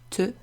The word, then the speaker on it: te: So me and te, you might remember them because they rhyme, they look similar, and you pronounce them with an e sound, like the letter e.